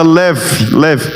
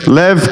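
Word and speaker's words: לב: O coração em hebraico, ele é uma expressão usada leve, é com B, mas o B e o V no hebraico ele se parece muito na pronúncia. Leve quer dizer coração.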